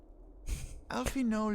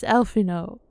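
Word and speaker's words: Alphinaud: Alphino Leveilleur, at your service. Okay, see, he doesn't pronounce the D, so now I know. For facts, it's Alphino.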